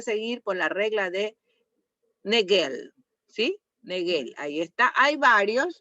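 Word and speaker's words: Naegele: Ya esa es la regla de negel Ne neguel así se pronuncia ya la irregularidades menstruales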